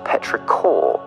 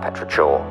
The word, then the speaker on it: Petrichor: That one, by the way, it turns out it's actually pronounced Petrichor, not Petrichor.